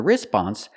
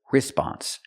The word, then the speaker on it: response: a response as a response the waitress is going to say something like I'll be back in a few minutes we cannot pronounce the word response the stress is on the second syllable not the first so